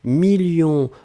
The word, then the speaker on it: millions: la fin 2 millions on ne prononce pas le s mais il est là ensuite signature mais ici